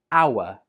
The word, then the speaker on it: hour: Again, this is a silent H, and this word is pronounced hour.